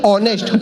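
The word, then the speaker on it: honest: अब ये बोला होनेस्ट नहीं ऑनेस्ट, होनर नहीं ऑनर, इसमें एस साइलेंट आता है।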